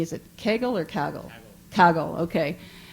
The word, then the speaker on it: Kaggle: and take a look at, I'm going to pronounce it wrong, Anthony, is it Kaggle or Kaggle? Kaggle, okay.